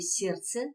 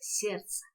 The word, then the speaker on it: сердце: не произносится в слове сердце точно также звук д не произносится сердце искусственный здесь произносится о